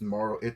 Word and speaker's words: Marl: Actually, we say her name. Her name is just Marl. Because her business name is Marl and B.